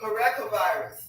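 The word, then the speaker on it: parechovirus: Pericovirus. Well, I was close. Shoot. Pericovirus. That's how you pronounce it.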